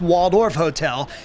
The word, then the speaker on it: Walled Off Hotel: artist known as Banksy it's called the walled off hotel or pronounced Waldorf Hotel and posts the quote